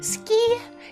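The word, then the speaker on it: 月: there is the two in Japanese ski is how you pronounce Moon and ski is also how you pronounce um like andless if you're shy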